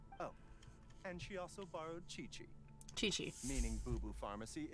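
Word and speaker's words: Qiqi: his voice actor oh and she also borrowed Chi-Chi Chi-Chi meaning boo boo Pharmacy is very short-handed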